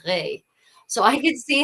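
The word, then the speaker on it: roi: speaker because at the in the 15th century the word for king wasn't pronounced wah it is pronounced re.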